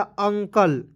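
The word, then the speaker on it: uncle: करना है और दोस्तों याद रखना है कि अंतिम में जब भी ई आता है उसका उच्चारण नहीं करते हैं ठीक है तो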